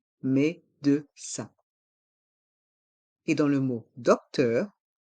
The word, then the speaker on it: médecin: un docteur une docteur dans le mot médecin il y a le son 1 avec les lettres I et n médecin et dans le mot